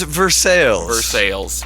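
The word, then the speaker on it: Versailles: but uh trust me the Kentucky way to pronounce it is versales versales much more phonetically literal even though though they're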